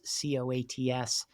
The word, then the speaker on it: Coats: stuff on LinkedIn, it's Coates, Coats, spelled like the coat that you put on, except plural.